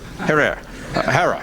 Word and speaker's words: Herer: Have I pronounced it correctly, Jack? Herer. Herer.